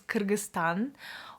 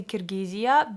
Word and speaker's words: Kyrgyzstan: The correct way to pronounce Kyrgyzstan is Kyrgyzstan or also Kyrgyz Respublikasy, which is Kyrgyz Republic. Please, if you're Russian-speaking person, don't say Kirgiziya. That's just not correct in Russian. Now, it's not Kirgiziya, it's Kyrgyzstan.